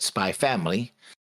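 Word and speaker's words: Spy × Family: family WR or pronounced it is read spy family family without the ex the author and editor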